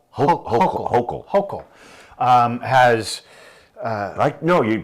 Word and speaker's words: Hochul: Hochul. Hochul. Has... no, you pronounce it devil.